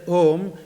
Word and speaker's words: Om: But you write it as Om because Om has a little more all-embracive meaning. Because there are three important syllables. A, U, M. A, U, Ma. A is the beginning of the sound, U is the continuation